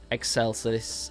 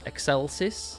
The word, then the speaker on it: Excelsis: We are going to close it down today with their final song, Excelsus. Excelsis, I think it's called or at least it's pronounced that way.